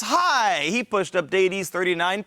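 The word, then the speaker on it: Hai: well a correct answer it rhymes with die it's high he pushed up DS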